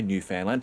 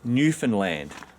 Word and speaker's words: Newfoundland: It's Newfoundland. And as Chris says, let me teach you how to pronounce Newfoundland, like a true Newfie. Everyone always puts the emphasis on newfound, which always bugs us.